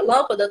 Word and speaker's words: lâmpada: E aí todo mundo entende que o lã, ele sai de uma maneira mais forte.